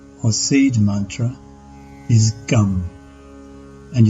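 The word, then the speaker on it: गं: or seed Mantra is gum and is pronounced the same as the English word Gum as most tantrica Bea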